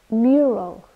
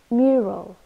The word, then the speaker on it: mural: called sidewalk and footpath mural mural this is a noun with two syllables and we stress the first one mural and it's a painting